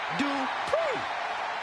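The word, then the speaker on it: Maxine Dupri: Michael, it's pronounced Dupree.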